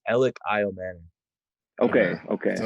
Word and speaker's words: Elic Ayomanor: make sure we're saying it right sure it's alex isle manning okay okay so it's alex okay yeah we